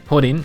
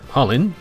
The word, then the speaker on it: Chulainn: his name is hodin in genealogy hodin or Hollen does seem to be one of the ways to pronounce this name although Cen also seems to be fine as well basically call him what